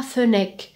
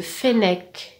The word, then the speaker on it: fennec: دير ملاحظه بالنسبه لا prononciation كاين اللي ينطقوها fennec. non c'est faux. le e كيعود suivi de deux consonnes.